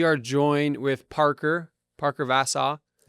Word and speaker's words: Vassau: Parker Vasau. Yeah, I'm pronouncing that right.